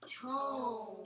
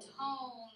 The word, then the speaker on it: tone: O consonant E, it says O. Practice. Your word is? Tone. Tone.